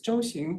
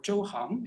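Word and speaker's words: 周行: So now, along with this very, I think, iconoclastic reading, the controversial phrase "zhouxing" or "zhouhang," you can, I think, pronounce it either way, in the couplet is now glossed as a broad road.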